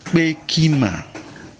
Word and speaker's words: kpeki: Now, Peki, like I said, is spelled K-P-E-K-I. And the E is falling from left to right.